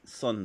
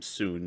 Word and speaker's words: Sun: anticipating it to play sun wukan or is it soon sorry I said Sun they they pronounced his name soon in the game so we're going to use soon everyone else keeps calling